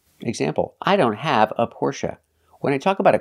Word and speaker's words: Porsche: Porsche or Porsche now the last syllable is pronounced uh like cup and up not a like say and pay but uh like cup